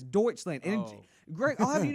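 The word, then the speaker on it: Deutschland: the last time Greg it's pronounced Deutsch land Greg you keep saying something else all right did you go to doled Door you keep saying something else it's deuts land and Greg I'll have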